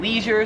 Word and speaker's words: leisure: Leisure, so me and like every American pronounces it leisure. I've never heard it pronounced any other way. However, I came here to Australia and they pronounce it leisure.